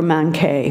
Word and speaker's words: manqué: a college professor who was a New Yorker manque who knew - Manque.